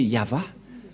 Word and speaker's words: Yahvah: de droite à gauche mais la vraie lecture de ce terme c'est yava je vais vous apprendre